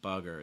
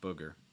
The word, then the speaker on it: booger: It's different than like fun. Like it's not bugger, it's booger.